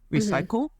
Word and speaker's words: RCYCL: There's one called Recycle, and that's spelled capital RCYCL, Recycle.